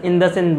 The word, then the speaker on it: IndusInd: is the project of a bank known as indocin Bank which is pronounced also as in the same Bank IND us IND in the same Bank